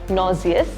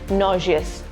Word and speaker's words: nauseous: You do not pronounce it as nauseous, you pronounce it with a sh sound, which is nauseous.